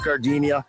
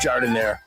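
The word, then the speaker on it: giardiniera: And guys, when you're at the counter, don't call it Gardinia. It's pronounced jordinire.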